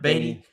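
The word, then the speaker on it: Baty: Is that how you pronounce it? Brett Beatty. Yep. Beatty.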